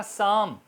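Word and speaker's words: psalm: इससे पहले आता है इसी तरह शाम एस ए ल एम शाम शाम और पी साइलेंट रहेगा पालम सम होता है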